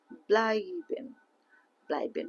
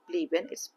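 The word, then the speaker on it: bleiben: অবশ্যই জানাবেন so dear ফ্রাইডাক ফ্রাইডক ওকে দেন ব্লাইভেন means হচ্ছে স্টে আই ব্লাইভেন নট ব্লিভ ওকে এখন যদি উল্টাটা হয় আই থাকে তাহলে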